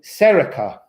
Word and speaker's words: Saoirse: I had a pupil once, and her name was spelled Saoirse, but she was called Serica.